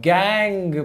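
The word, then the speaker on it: gangue: उनको हम गैंग particles बोलते हैं। यानी कि इसको गंगू मत बोलना भाई, बहुत लोग इसको गंगू पार्टिकल प्रोनाउंस करते हैं, ऐसा नहीं करना है, ठीक है।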